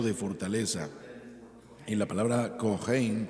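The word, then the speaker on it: kohen: fortaleza en la palabra cohein para sacerdote cohen lo pronuncian algunos esa idea es la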